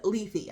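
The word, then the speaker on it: Lethe: including my husband okay this is pronounced leafy I had to actually Google it it's uh Greek so this is called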